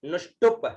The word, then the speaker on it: नुष्टुप: अब यहाँ पर प है, यहाँ ध्यान रखिएगा, बहुत सारे लोग क्या बोलते हैं, यहाँ पर भी नुष्टुप बोल देते हैं, ब का उच्चारण करते हैं, लेकिन यहाँ उच्चारण है प का, है ना, क्योंकि पहले वाले में था त्रिष्टुभ, लेकिन यहाँ जो नुष्टुप है, यहाँ नुष्टुप है, आधा प है, ठीक है ना, नुष्टुप।